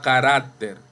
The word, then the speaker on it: carácter: Igual a carácter, no carácter. En este caso ahí dice carácter.